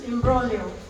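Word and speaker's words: imbroglio: means to know okay so it's in brolio G is silent there this i m b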